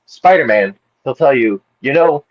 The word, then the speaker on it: Spider-Man: There's a little space, a little pause between spider and man. So, it's actually Spider-Man, not Spider-Man.